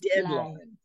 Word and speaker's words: deadline: slide deadline pass the deadline emphasis is on the first part deadline deadline yeah yes